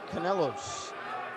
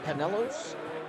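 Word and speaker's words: Kanellos: Chopping the puck up over the glass is Panayotis Kanelos. Panayotis spelled P-A-N-A-G-I-O-T-I-S. Kanelos.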